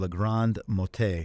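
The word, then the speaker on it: La Grande-Motte: of blaze in the southern French city of L Grand mot that's how it's pronounced on Saturday luckily this was before most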